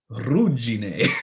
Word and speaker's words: Ruggine: I learned how to pronounce this from a real Italian because I used to call it Regine. It's not Regine, it's Ruggine.